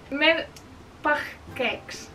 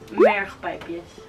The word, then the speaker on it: mergpijpjes: Merpagkeks. Merpagkeks. Merpagkeks. Okay, so the correct way to say it is mergpijpjes. Mergpijpjes.